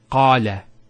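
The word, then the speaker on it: قال: First one here is qala. Notice the elongation of the A sound. Qala. Not qala, qala. So we have the fatha on the qaf, followed by the alif.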